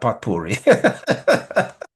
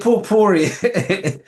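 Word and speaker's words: potpourri: Yes, my daughter reminded me that that is how it is pronounced. daddy not pot puri out of the poor puri of suggestions um of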